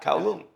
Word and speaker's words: Kowloon: a place called, please tell me if I pronounce the word, Kowloon. Yeah. Kowloon.